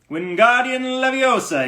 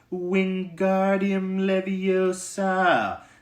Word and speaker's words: Wingardium Leviosa: "Wingardium Leviosa," he shouted, waving his long arms like a windmill. "You're saying it wrong," Harry heard Hermione snap. "It's Wingardium Leviosa. Make the gar nice and long."